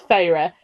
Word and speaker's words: Feyre: That's why I remember that was how it's pronounced. Also this, so it's Feyre.